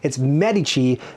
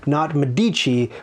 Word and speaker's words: Medici: and i learned very recently how to properly pronounce that name it's medici not medici which i've always said for my entire life